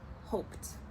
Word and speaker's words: hoped: we have hoped hoped remember even though it sounds like a T it is e d hoped so we're gonna spell